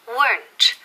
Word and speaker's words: weren't: Una sílaba, no dos. No decimos weren't ni weren't, ¿ok? Decimos weren't, y con T al final.